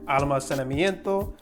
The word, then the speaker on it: almacenamiento: So this would be almacenamiento. Almacenamiento.